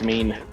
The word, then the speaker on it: mien: it is not her is it pronounced man or mean it's mean oh eric disagrees go